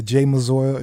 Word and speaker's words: Jae Mazor: They can literally Google me and from Instagram Spell, to how you spell it? J-A? JAEMAZOR. So Again, just that's like how it sounds. yeah. Jay Mazor is JAE, no Y.